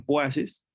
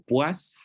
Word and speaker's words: poises: Los centipuaces que veíamos para la viscosidad de los fluidos justamente vienen de este nombre, y se escriben así, se escriben poises, pero se pronuncian puaces o puas.